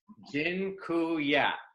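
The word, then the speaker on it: dziękuję: you all the a Polish word for thank you it's Jin ku yeah that I'm not gonna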